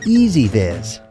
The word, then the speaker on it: EZVIZ: what is ez vis let's start with the name it's pronounced ez vis the name is important because as you'll see